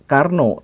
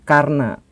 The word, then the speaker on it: Karna: Soe tetapi su dan bukan Karno tetapi Karna dan ini sebenarnya bukan hanya perbedaan kecil dalam aksen Sunda atau Jawa atau perbedaan dalam bahasa